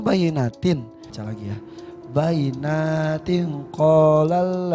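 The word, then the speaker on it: بينات: Wa iza tutla alaihi ayatuna bayyinatun qalal ladzina. Betul enggak? Salah. Yang salah yang mana? Tadi salah. Harusnya apa? Harusnya bayyinatin.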